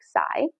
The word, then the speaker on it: psi: god of the sea so this is spelled psi but you pronounce it like psy and we measure water